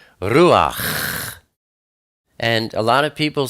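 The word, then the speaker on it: רוּחַ: And when you say ruach, it's not ruach, it's ruach.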